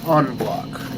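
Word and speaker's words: en bloc: Examples include, but are not limited to, full moon, half moon, stripper clip, or onblock clip. It's spelled n block, but it's pronounced onblock.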